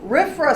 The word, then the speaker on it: RFRA: in the wonderful world of government whatever gets pronounced a riff from Griffin so rifra said that you can this is Congress saying